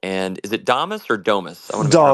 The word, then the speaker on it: Damus: It's like the icing, and that's why both Primal and, is it Damus or Domus? I want to make sure I'm Damus. pronouncing it Yeah.